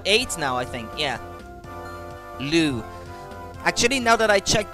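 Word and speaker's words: Lugh: he's at what eight now i think yeah lou actually now that i checked the manual yeah it's pronounced lou his name but you gotta make sure you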